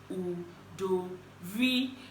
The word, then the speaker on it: Udori: Udori is pronounced Udori, not Udori, not Udori.